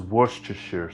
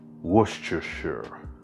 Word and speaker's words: Worcestershire: little flavor in here and come on now pronounce it with me this is worcestershire sauce now see if you can repeat yourself saying that worcestershire worcestershire worcestershire all right now for the beef base